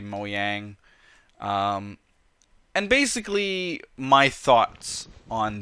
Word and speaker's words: Mojang: But talking about Mojang or Mojang, however you want to pronounce it, I say Mojang.